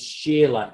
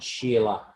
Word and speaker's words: Shila: So in Sanskrit, the word for a mountain or a rock is Shila, Shila, which is pronounced by the Spanish Chile, not Sheila.